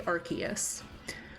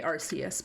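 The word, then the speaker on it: Arceus: I will say um I'll use the Japanese pronunciation so like I don't say archus I say arus because in in Japanese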